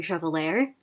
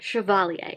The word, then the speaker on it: Chevalier: which I was pronouncing Chevalier um forget the French don't really pronounce their R's the way we do in English so it's pronounced Chevalier as I have learned